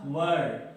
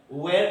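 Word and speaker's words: were: इसको आप बोलिएगा वाज वर, वेयर नहीं बोलिएगा कभी, ठीक है?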